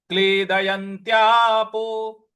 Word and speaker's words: क्लेदयन्त्यापो: च पर ऐ की मात्रा है और न पर जो अनुस्वार है उसका उच्चारण हमें अंग ले आना है, अंग का। तो नैनं, न चैनं, न चैनं क्लेदयन्त्यापो, क्लेदयन, क्लेदयन त्यापो।